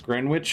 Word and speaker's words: Greenwich: never heard of this greenwitch or is it green witch or grenwich Gren witch and U it's uh Greenwich right I think that's pronounced grenic yeah it's a Manhattan